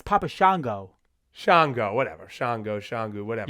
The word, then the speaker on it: Papa Shango: his name how you Pap shangu what' you think it was Papa shangu it's Papa Shango Shango whatever Shango shangu